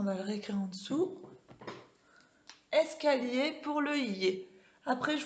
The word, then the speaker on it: escalier: Hop, I-E-R, ça fait yé. Est-ce que vous entendez le y, comme dans la page d'avant de pilotis? Donc, escalier, c'est un escalier, ça s'écrit avec I-E-R. Et on entend, donc quand vous voyez I-E-R, vous ne dites pas escalier, on dit escalier. On fait le y, d'accord? Ok, donc on va mettre escalier pour les yé.